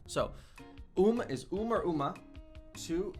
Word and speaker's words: um: You don't actually pronounce the M. So, um is um or uma.